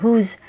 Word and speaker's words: whose: Ang pronunciation nga pala ng dalawang salitang ito ay parehong long vowel O at Z sound sa dulo.